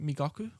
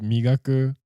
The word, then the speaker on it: Migaku: lot of good stuff uh is his name mikaku yeah yeah so there's a a company just started uh called migaku em wait me gaku right m-i-g-a-k-u is how